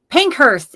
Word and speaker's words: Pankhurst: a whistle and um is teapot pink Hurst if I pronounce it correctly correct me if I'm wrong yep pank is fine thank you for having